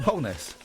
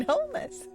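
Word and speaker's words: Holness: Bob holess yeah Bob holess is it holess holess holess wholeness holess wholeness why you saying wholeness cuz that's how you pronounce it Bob wholeness I'll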